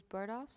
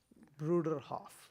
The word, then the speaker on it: Bruderhof: Just I was wondering so these bird offs is that how you say it? Bruderhoff. Brutder Hoffs do.